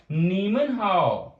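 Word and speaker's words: 你们好: सो किस तरह आप प्रोनाउंस करेंगे, यू विल से निन हाउ, निन हाउ। And next we have a नीमन हाउ।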